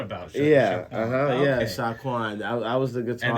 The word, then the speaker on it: Xiakuan: But that was Jerome's idea to spell it like that. And it's like you know what? As cool as that is, it's gonna always like be confusing on how to pronounce it. Yeah. So that's when we just made it regular, Sha, S-H-A, Quan.